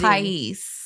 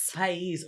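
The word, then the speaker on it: Páez: It'd be like paez. P-A-A-E-Z. It's país. Pais.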